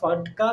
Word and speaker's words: FATCA: Spelling है FATCA, बोलते हैं फटका है, पर इसका क्या है फुल फॉर्म?